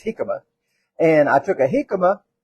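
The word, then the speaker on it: jícama: that hi hikma hik it spelled like Jamaica but it's hikma and I took a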